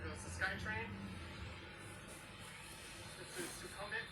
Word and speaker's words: Sukhumvit: This is Sukhumvit. It's actually supposed to be pronounced Sukhumvit, but nobody says it that way.